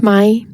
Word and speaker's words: Mai: as refugees of War my is pronounced my it is the most